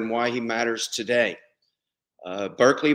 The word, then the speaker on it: Berkeley: why he matters today berkeley barkley as we know barkley is the british pronunciation barclay had strong ties